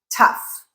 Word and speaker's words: tough: The first one is F, rhyming with stuff, like tough.